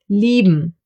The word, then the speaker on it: lieben: I-E will be pronounced like a long, slow E, like for example in cheese. Another German diphthong. A few more examples for this sound would be lieben, to love, or Bier, beer.